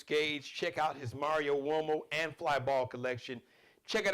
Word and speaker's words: Uomo: Mario Uomo, Uomo's an Italian surname. That's M-A-R-I-O, Mario. U like umbrella, O like Oprah, M like Mary, O like opera, but it's pronounced Uomo, like a W, but it's U-O-M-O.